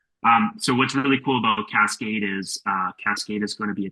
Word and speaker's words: Cascaid: Cascade is spelled CASCAID, Oh, ID. Yep. like yeah, AID. So Cascade.